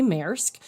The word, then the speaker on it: Maersk: it I typically say mayorsk um kind of like mayor of Maritime uh Maersk but how